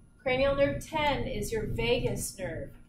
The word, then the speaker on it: vagus: Cranial nerve 10 is your vagus nerve. Not spelled like the city, V-A-G-U-S.